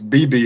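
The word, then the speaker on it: Beebe: is it Bebe, Arkansas? No, it's Bebe, Arkansas.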